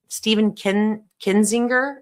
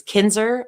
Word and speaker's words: Kinzer: And I'm going to play a great video by the, his name is Stephen Kinzinger, I think is how you say his name. It's Kinzer. Oh, it's Kinzer. That's what it is.